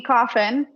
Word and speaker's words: Coffin: So Coffin tipped Venmo $20 and said, Rachel, it's coffin, just like the box.